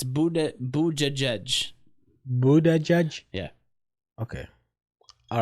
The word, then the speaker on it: Buttigieg: Because to me, it looked like Buttigieg. But Buttigieg.